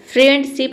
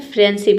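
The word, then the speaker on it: friendship: फ्रेंडशिप फ्रेंडशिप नहीं होता है। फ्रेंडशिप इसे पढ़ेंगे।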